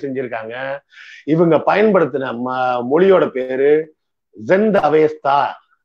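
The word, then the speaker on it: Zend Avesta: இவங்க பயன்படுத்தின மொழியோட பேரு ஜெந்த் அவேஸ்தா. தம இன்னும் கொஞ்சம் இந்திய பாணியில சொல்றதா இருந்தா சந்த அவேஸ்தா அப்படின்னு சொல்லலாம், இங்கிலீஷ்ல ஜெண்ட் அவேஸ்தான்னு சொல்லுவாங்க. இந்திய உச்சரிப்புக்கு சொல்றதா இருந்தா சந்த அவேஸ்தா அப்படின்னு சொல்லுவாங்க. இது எல்லாத்தையும் தாண்டி முக்கியமான இன்னொரு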